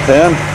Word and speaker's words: Penh: cambodia an unusual style i'm going to phnom penh on a boat from siem reap this is the boat for pronounced pan this is what life's like in backpacker